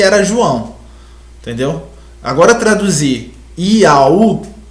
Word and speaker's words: Iau: Vamos só para as partes da arqueologia e da pronunciação do nome Iau, porque batemos tanto nessa tecla de Iau.